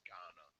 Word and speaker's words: Ghana: It is Ghana, just so you don't feel Okay.